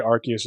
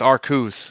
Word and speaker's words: Arceus: And the reason I say Arceus is because that's how they say it in the anime. I know there are some people who are like, oh, it's Arceus.